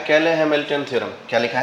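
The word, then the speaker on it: Cayley–Hamilton: ऊपर लिखा है कैले हैमिल्टन थ्योरम। क्या लिखा है? क्या प्रोनाउंसिएशन है? कैले हैमिल्टन थ्योरम।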